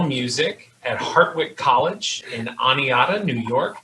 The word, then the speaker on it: Oneonta: Andrew Pease, Director of Instrumental Music at Hartwick College in Oneonta, New York. Did I say that correctly? Oneonta. Oneonta, all right.